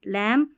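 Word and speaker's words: lamb: B silent रहेगा। जैसे एम और बी साथ में रहेंगे ना स्पेलिंग के लास्ट में तो बी साइलेंट रहता है। लैम थंब पढ़ते हैं। बी को नहीं पढ़ते।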